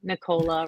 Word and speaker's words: Nicola: Um, and if you have trouble remembering my name, you can think that it rhymes with Coca-Cola. Nola rhymes with Coca-Cola.